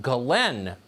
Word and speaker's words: Ghislaine: crimes including sex trafficking her name apparently is pronounced Glenn Maxwell spelled jizz Lane you know she is